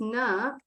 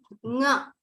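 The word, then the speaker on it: ङ: It's pronounced na. No, it's not pronounced na. It is pronounced nga.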